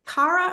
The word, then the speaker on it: Cara: pronouncing your name properly is it Cara or carara it's Cara although I work a